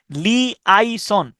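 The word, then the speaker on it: liaison: যোগাযোগ রাখা বা যোগাযোগ তাহলে এইটা আপনি স্পেলিংটা দেখেন এল আই এ আই এস ও এন লি আই সন এল আই এ আই এস ও এন লাই আই সন অথবা এল আই এ আই এস ও এন লি আইসন দুইটা ভাবেই আপনি উচ্চারণটা করতে পারেন তাহলে লি আই সান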